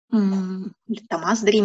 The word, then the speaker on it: Томас Дрим: «Томас Дрим», если мы ставим ударение по-французски. История мальчика, которому неожиданно пришлось в очередной раз спасать мир.